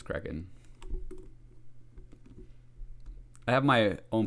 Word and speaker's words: Kraken: Oh, it's Kraken, not Kraken. I always call it, for whatever reason, since I was a little kid, I've always called it the Kraken. Even though it's Kraken.